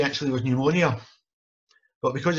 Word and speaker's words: pneumonia: The word she was trying to say actually was pneumonia. But because it's got a silent P at the beginning of it, she assumed that it wasn't silent and that was actually the word.